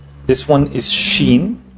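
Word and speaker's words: شين: pronounced like the letter s this one is Sheen pronounced like the letters sh in shei share ship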